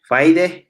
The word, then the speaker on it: Gwijde: We are with my friend Gwijde. It's correctly pronounced.